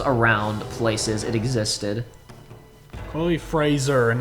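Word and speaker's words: Frazer: that art was around places it existed chloe fraser and not frasier i i believe it's pronounced frasier though but they say they said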